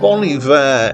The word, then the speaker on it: Bon Iver: Bon Iver is pronounced like the French term Bon Hiver with an H at the front of the Iver, which means something like happy winter.